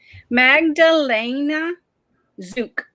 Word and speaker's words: Magdalena Zuk: gonna let you nettie tell us how to pronounce this magdalena zook magdalena zook yeah all right well let's start